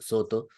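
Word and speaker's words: Sōtō: tjing era precisamente la escuela Soto pronunciado en japonés Soto que entonces llega por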